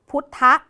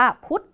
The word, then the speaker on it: พุธ: อาจ จะ ออก เสียง อะ กึ่ง เสียง ตรง พุทธะ นะ คะ แต่ ว่า พอ ไม่ มี สระ หรือ มี คำ อื่น มา เนี่ย คำ นี้ ก็ ต้อง อ่าน ว่า พุธ เฉย ๆ ที นี้ ก็ เลย กลาย เป็น